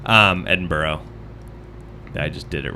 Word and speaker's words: Edinburgh: in he's in the uk obviously he's in edinburgh um edinburgh i just did it wrong and then i